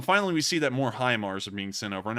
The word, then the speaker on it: HIMARS: being sent over and i'm finally calling them highmars instead of himars because i've seen a lot of people saying it's pronounced that way and i'm going to give on that one and pronounce it as high mars but we've seen an